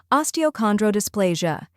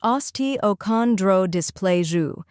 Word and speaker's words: osteochondrodysplasia: Next, chondro, where con sounds like con in contract, and dro rhymes with grow.